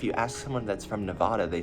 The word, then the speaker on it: Nevada: Like, I know Colorado has like a Spanish name base, and I think Nevada does too, which is why I pronounce it Nevada. But if you ask someone that's from Nevada, they say it's Nevada.